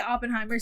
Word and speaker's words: Oppenheimer: Okay, I've been saying his name wrong, but basically Oppenheimer, seeing the perspective of Oppenheimer and the physicist